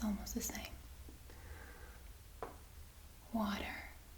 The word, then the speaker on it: water: it's almost the same water yep but remember the a is pronounced as ah yes so that great excellent